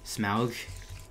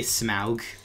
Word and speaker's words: Smaug: desolation of smog well in the movie they don't pronounce the smog it's smug they say Smaug which is interesting but